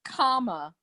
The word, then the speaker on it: Kamala: The best way to remember how to pronounce it is it's Kamala.